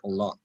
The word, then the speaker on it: الله: So now this Allah will become not Allah, Allah, ushkurillah, because there's a zair which is for it. That's why the pronunciation of Allah will be flat, Allah. In all the other examples, it was Allah.